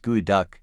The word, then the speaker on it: geoduck: The geoduck, pronounced geoduck, is a species of giant clam native to the coastal waters of the Pacific Northwest.